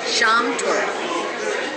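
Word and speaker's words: Schaumtorte: Schrammtorte, which is a meringue with ice cream and a sauce.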